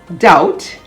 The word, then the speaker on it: doubt: s-y-m-b-o-l symbol a-m-b-i-g-u-o-u-s ambiguous the b is silent before the letter t as in debt d e b t doubt d-o-u-b-t subtle s-u-b-t-l-e data